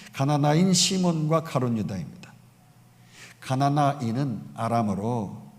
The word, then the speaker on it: 가나나인: 그나마 제자들 중에서 누가 봐도 열심히 있고 똑똑한 사람이 이제 맨 마지막에 그룹인 바로 가나안인이 아니라 가나안, 대부분 사람들이 가나안이라고 읽어요. 그런데 가나나인이에요. 가나나인 시몬과 가룟 유다입니다.